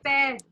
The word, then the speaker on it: père: How do you pronounce dad in French? Dad? Yes. Okay, père. Pear.